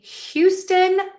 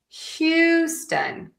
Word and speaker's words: Houston: So, just kind of keep that in mind that some people will drop the H. So, let's put this all together and practice each syllable and then we'll do the words together. Houston, Texans.